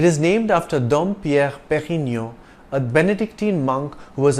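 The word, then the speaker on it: Pérignon: pioneer of superior champagne it's a soft D in Dom and you don't enunciate the N at the end of Perino you pronounce the preceding o nasali Perino if you have difficulty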